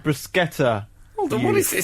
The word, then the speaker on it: bruschetta: In Italian, bruschetta has a hard C and is pronounced with a sk, not a sh sound. If it didn't have a h, it would be soft. Bruschetta. Bruschetta.